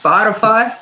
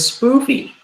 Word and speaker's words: Spotify: It's pronounced Spotify. I thought it was spoofy.